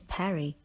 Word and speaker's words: parry: For example, Harry, the boxer, put up his fists to parry his opponent's punch. The word parry rhymes with the name Harry.